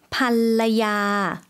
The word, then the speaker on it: ภรรยา: ภรรยา 네, 발음이 조금 어려울 수도 있을 것 같은데요. 여성 발음으로도 한 번 더 들어볼게요. ภรรยา 반라야라고 발음해 주시면 되겠습니다.